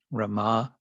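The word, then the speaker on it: Ramā: known in this context Rama with a long a on the end RI and then um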